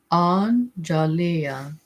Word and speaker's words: Anjalia: It is pronounced analia."